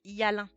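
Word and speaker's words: hyalin: Voilà, il est là notre cartilage Yalin. Regardez. Hop. Là, vous avez une coupe au microscope. Donc ça s'écrit comme ça.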